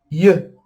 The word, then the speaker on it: yeux: Lembrando que o X, quando tem o X, a gente não pronuncia ele. Aqui é um som, vocês